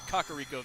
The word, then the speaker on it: Kakariko: remember I pronounced it I've been pronouncing it wrong because the king said Kakariko village sorry about that if I want to know how to pronounce it I just have to think of chickens try soothing with L